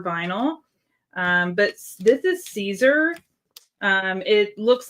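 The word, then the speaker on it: Siser: Um but this is Caesar. Um it looks like Cizer, S I S E R. Um, but it is actually pronounced Caesar, like the Caesar salad. And, um, I've heard people call it Scissor and all these other names, too.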